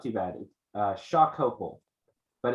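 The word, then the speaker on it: Xocopol: is um oh it's not too bad uh shock couple but it's special but it's spelled x-o-c-o-p-o-l Chicago can you take us the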